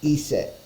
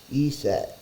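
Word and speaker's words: Aset: inconveni as a convenience egyptologist pronounced that as ESET ESET and Isis is often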